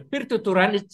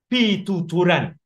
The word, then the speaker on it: Pituturan: The Pirtuturan is a mispronunciation of Pituturan, an old Javanese word.